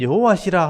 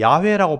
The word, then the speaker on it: 여호와: 그리고 뒤에 이는 여호와시라 하는 것은 우리와 언약했던 하나님 이름을 얘기하는 거예요. 여러분 하나님의 이름은 여호와입니다. 여호와. 여호와는 발음 때문에 우리 야훼라고 발음하기도 하지만 원래 하나님의 이름은 여호와입니다.